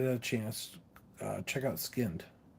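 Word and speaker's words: Skynd: chance uh check out skinned it's Sky N D I think is how you say skinned um that's how it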